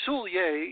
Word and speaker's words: Soulliere: you get a comfortable feeling with them so Soulier is spelled sou ll i ER e sou ll